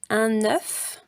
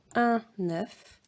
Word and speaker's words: œuf: Un œuf, ça se prononce comme ici, comme cœur. Un œuf.